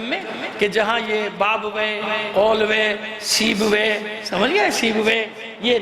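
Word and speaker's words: قولویہ: کو بتا دیا کہ بعض اوقات لوگ اس کا تلفظ صحیح نہیں کر پاتے، بابوے کو بابویا پڑھتے ہیں، کیا پڑھتے ہیں؟ بابویا، سیبویا، اولویا، یہ نہیں ہے، بابوے، اولوے، سیبوے۔ صلوات بھیجئے محمد آل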